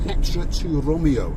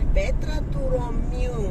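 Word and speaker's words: Petra tou Romiou: The area we're coming to now is called Petra to Romeo. Is that how you say it, Chrissy? Petra to Romeo.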